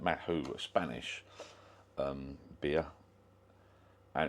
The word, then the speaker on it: Mahou: anyone got any flakes that's Mato apparently you pronounced that Mato Spanish um beer and